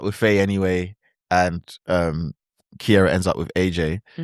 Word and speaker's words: Ciara: Keira? Cuz her name is spelled like Ciara.